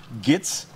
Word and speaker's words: GHATES: Bon Gates c'est on dit prononcer comme ça mais son sigle G H A T E S, Gates.